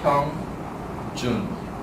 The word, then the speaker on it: Hyungjun: It's really hard. But if you have hyphen here, like it's obvious that this is the first syllable and this is the second syllable. It's like Hyungjun.